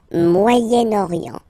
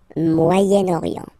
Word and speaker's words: Moyen-Orient: So it's interesting here because normally if you would have only this word here, you would pronounce it moyen, moyen, okay? But then as you get this vowel after, okay, you get to make the liaison between the two.